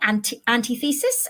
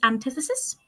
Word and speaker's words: antithesis: okay next one antithesis I love antithesis or anti antithesis as i used to pronounce it when I was younger and did not know better but it is antithesis the antithesis of something